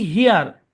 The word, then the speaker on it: here: তারপরে দেখেন ERE এর 2টা সাউন্ড, একটা হচ্ছে ইয়ার আর একটা হচ্ছে এয়ার। তো বেশিরভাগ ক্ষেত্রে ইয়ার হয়, আর অল্প কিছু জায়গায় এয়ার হয়। কখন কোনটা হবে এর কোনো রুল নাই, আপনাকে উচ্চারণ আয়ত্ত করে নিতে হবে। হ্যাঁ, সবচেয়ে ভালো হয় অর্থ সহ মুখস্থ রাখতে পারলে, কারণ অর্থ সহ মুখস্থ করলে তাহলে ওটা ভালো মাথায় থাকে। যেমন দেখেন HERE উচ্চারণ কি? হিয়ার।